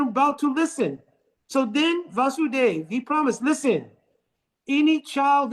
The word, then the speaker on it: Vasudev: Immediately, Vasudev here has a short A because Krishna's name is also Vasudev with a long A. So not to confuse the two.